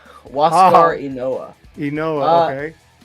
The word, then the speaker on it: Ynoa: Okay, so Max Fried, Ian Anderson, Charlie Morton, and I don't know how to pronounce his name. What does the rotation look like? Huascar Ynoa. Ynoa, okay.